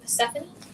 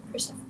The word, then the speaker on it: Persephone: For those of you who work with Persephone, this is an amazing tea for her. I like it to drink with the influence and the offerings of her. Oh, sorry. You're right. Persephone.